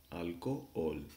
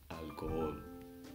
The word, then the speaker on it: alcohol: say al cool no H is silent but it gives you a pass so you have to pronounce these two all separately alcohol alcohol means Al Gore but